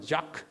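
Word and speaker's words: Jacques: 마지막으로 이분은 자크 두캉, 유대인으로 프랑스에 살았기 때문에 이름이 프랑스식 이름 자크, 끝에 S를 발음하지 않고 작스가 아니고 자크, 프랑스 사람 그래요.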